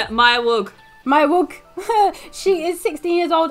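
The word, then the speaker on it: Maya Weug: Maya Wang? How do you say it? Maya Wug.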